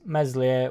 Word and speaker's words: Meslier: save what a save what a guy super Mees meslier what a save Trey got some fans chickers